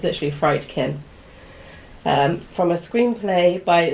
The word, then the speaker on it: Friedkin: William friedkin that's why I think he you pronounce it CU it's literally friedkin um from a screenplay by William Peter blatty